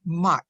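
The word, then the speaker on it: Maat: In Afrocentric rhetoric and communication, the key concept is the term MAT, that's spelled M-A-A-T.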